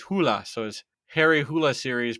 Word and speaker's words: Hole: probably most famous for his Harry Hole mysteries, although the Norwegian pronunciation is Hula, so his Harry Hula